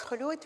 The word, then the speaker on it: Khulood: It's pronounced as Khulood, which means immortality in my language.